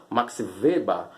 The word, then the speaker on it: Max Weber: Weberiana relativa a Max Weber, ou como alguns pronunciam, Max Weber, né?